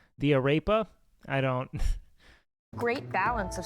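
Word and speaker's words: arepa: a I'm sorry um Aras are one of the few things I'm going to say you have to roll your r on you know what I mean the arapa no you got to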